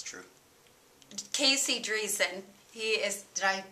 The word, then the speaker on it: Driessen: with the um Grammy nominated it's true Casey dreon he is did I pronounce that correct did very good he's an